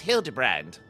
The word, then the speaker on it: Hildibrand: It's pronounced Hildebrand.